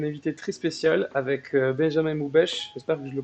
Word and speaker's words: Moubèche: Aujourd'hui, petite interview avec un invité très spécial, avec Benjamin Moubèche. J'espère que je le prononce bien. C'est ça. C'est ça, Benjamin Moubèche, donc qui est rédacteur en chef et community